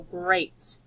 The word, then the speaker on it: great: a high-frequency word great even though it says ëi this vowel team is actually seen a so great but this is the